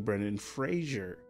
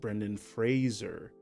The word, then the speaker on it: Brendan Fraser: we've all been saying Brennan Frazier but it's supposed to be like Razer so it's supposed to be pronounced Brendan Fraser I didn't know that